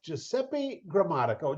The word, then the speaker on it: Giuseppe Grammatico: relationships podcast and today I am here with Giuseppe grammatico Giuseppe welcome man awesome to have you here